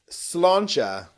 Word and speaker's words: Sláinte: So this one is Sláinte.